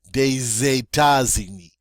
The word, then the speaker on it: des États-Unis: to now take this silent S and actually pronounce it. But it's going to have a Z sound. So we're going to say des États-Unis, des États, see, des États.